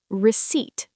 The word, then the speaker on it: receipt: give you the receipt receipt the 'p' is silent why is the receipt